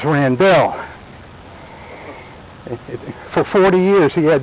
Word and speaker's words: Randell: he started to say my name isn't randolph my name is rand bill for 40 years he